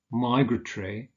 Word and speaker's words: migratory: With words that consist of 3 syllables, the stress is usually on the first syllable. So prefatory, migratory, a variant being migratory.